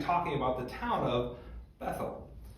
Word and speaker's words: Beth-El: We would pronounce it Bethel, but it's Beth-El, right?